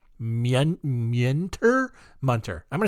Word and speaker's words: Muenter: It's Muenter. Munter?